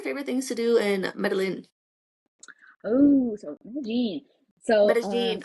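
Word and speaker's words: Medellín: In Spanish, a lot of cultures say like pronounce a double L as a Y, but in Colombia, it's like a J. So other countries will say like Mm, Medellin, but we'll be like Medellin.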